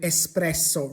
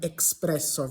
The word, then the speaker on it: espresso: So, and also there is no x in Italian, hence the word espresso rather than expresso.